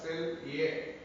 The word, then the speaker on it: Selye: And there is one model given by Hans Selye. Selye. It is pronounced as Selye.